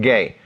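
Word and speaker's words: γῆ: By this way, we're talking about this Greek word that's pronounced gay.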